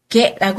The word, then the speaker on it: 下: 게라고 하는 거. 아래 하자를요. 시다라고도 읽고 뭐 여러 가지 표현이 있는데 이럴 때는 중하일 때는 게라고 읽습니다.